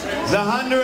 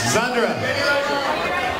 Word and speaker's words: Zhandra: Zahandra. Yeah? All right. Yep. That's very convenient. Zandra. The H is silent, I guess.